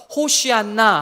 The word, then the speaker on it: 호산나: 호산나. 이게 같은 말이에요. 같은 말. 호산나라는 단어, 아람어로 구원하소서라는 말을 헬라어로 음역한 것입니다. 원래 발음은 호시안나 하는 게 더 원문의 원 발음에 가까워요.